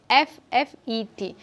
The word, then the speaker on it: buffet: The spelling of buffet is Buffet, but it is not pronounced as buffet or buffet. Here the letter T is silent.